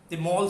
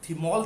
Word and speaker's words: thymol: ये अगर अभी आप ध्यान रख सकते हैं, इंग्लिश में थ की साउंड नहीं होती तो त करके बोला जाता है। इसकी स्पेलिंग जरूर THYMOL है, पर इसको थिमोल ना बोलकर तिमोल, तिमोल सीड्स, सीड्स।